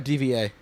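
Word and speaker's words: D.Va: Or is it Diva or DVA? the diva is how they pronounce it.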